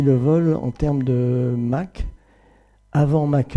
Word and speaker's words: Mach: Ernst Mach, que l'on doit prononcer Mach, un physicien autrichien, avait réussi à photographier les premières ondes de choc et les avait photographiées sur des obus.